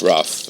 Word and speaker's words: Ruff: And part of it is a man who's called the science buff, which rhymes with his name. He's Ruff, and he is the science coordinator of the Hudson River Museum.